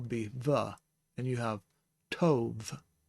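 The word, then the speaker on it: טוב: And then we have the beit here, and it is the light pronunciation so it'll be a V instead of a B sound. Instead of ba, it will be the. And you have tov, tov.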